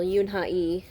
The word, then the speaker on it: Yoon Ha Lee: called dragon pearl by yoon ha lee will yoon hai because in korean you don't pronounce the l really um this is uh